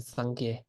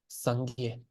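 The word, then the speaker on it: སངས་རྒྱས: teachers is Kampa, and the Kampas will say Sangye. So I apologize for. I'm gonna try to stay consistent, Sangye, with what I'm saying, which is the central pronunciation, Sangye.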